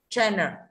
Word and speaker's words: channel: Channel, âm N này người ta phát âm là chữ E, N và L thì không thể đánh trọng âm ở cái chữ đuôi này được. Channel thì thế thôi. Như vậy ở đây là chan, các bạn đóng chữ gì? Âm tiết thứ nhất là đúng.